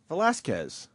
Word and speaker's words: Velásquez: he'll be Velazquez Spell it phonetically Kez with a K I'm gonna put the k right here Look at what i do Q-E-U and then cross out U Velásquez See that easy?